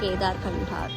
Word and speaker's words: Kedarkantha: I don't know, it's pronounced as Kedarkantha or Kedarkantha. ഇതിലെൻ്റെ ക്യാബിൽ ചേട്ടൻ പറയുന്നത് ഇറ്റ്സ് കേദാർകണ്ഠ.